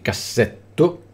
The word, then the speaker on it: cassetto: tre o più sillabe che finiscono con una vocale preceduta da due o più consonanti sono sempre Piane cassetto vedete che ci sono due consonanti precedute da due o più consonanti cassetto formaggio conveniente Quindi queste parole saranno